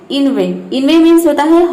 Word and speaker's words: inveigh: E-I-G-H दिखाई दे रहा है, और हम इन चारों अक्षरों का उच्चारण 'ay' की तरह कर रहे हैं।